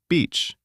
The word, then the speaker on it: beach: Long e, beach, short I, the other word. Practice this. Say, I went to the beach. Beach. Long, open, comfortable, confident.